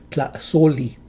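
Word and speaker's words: tlaxolli: Centuries ago, it was likely pronounced with two consonants in front, xo. However, as Nahuatl began to apply the syllable rule across all its words, this separated the consonants to two syllables.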